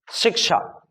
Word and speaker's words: शिक्षा: जब बोलेंगे तो शिक्षा, अगर आप बोल रहे हैं शिक्षा तो ये है, ये है शिक्षा, ठीक, और ये है शिक्षा, दोनों में अंतर, उच्चारण में अंतर समझ में आया? समझ लो, जिसमें क का थोड़ा सा फोर्स होता है, जब थोड़ा सा क निकल के आएगा उसके बाद छ निकल